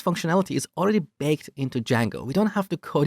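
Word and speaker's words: Django: very popular framework called D Jango so it's spelled with a silent D and it's pronounced d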